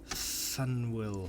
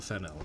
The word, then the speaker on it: Faneuil: Don't let the French spelling confuse you. The name of this building is pronounced Faneuil or Fennel. Getting it wrong is a good way to indicate you're not from around here, but it's also a